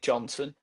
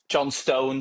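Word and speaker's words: Johnstone: And I'm go I would pick Johnson, John Stone. Sorry, he likes to be called, man. Genuinely, he he's like, you've been pronouncing my name wrong. It's John Stone.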